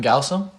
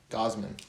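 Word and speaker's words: Gausman: Say it. Kevin Gaussam? Gosman. Gosman.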